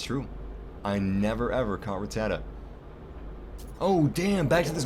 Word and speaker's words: Rattata: Ah, it's just one of the ratats. Ratat. Ratits. Damn it. I'm a huge fan of generation one. How do I not know how to pronounce ratat? Rattat. Rattata. Jesus Christ. There it is. Rattata.